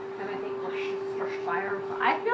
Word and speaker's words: Worcestershire: And I think Worcestershire. I feel like it needs some like garlic too. Worcestershire is how it's pronounced. Worcestershire.